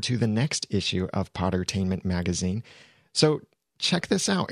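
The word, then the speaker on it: Podtainment: spelled p OD attainment it's just like entertainment but replace the ENT with p OD and the link for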